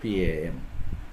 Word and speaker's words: palm: Palm, PALM. So here LM, so L will be understood, so PAM.